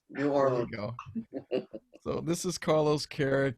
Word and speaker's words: New Orleans: no no okay can you introduce yourself it's new orleans new orleans so this is carlos carrick guy at large